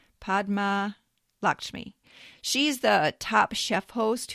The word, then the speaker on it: Padma Lakshmi: Number 27, uh, Padma Lakshmi. I had to look that one up, too. I think that's how you pronounce it. Podma Lakshmi.